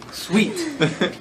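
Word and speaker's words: suite: very good I no you sweet s UI t e right sweet that's a that's a great example is it UI what did I say no I was just asking yeah it's UI s UI t e sweet the next one the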